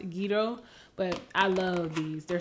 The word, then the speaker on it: gyros: and we love well i call them gyros i know i think they're pronounced guido but i love these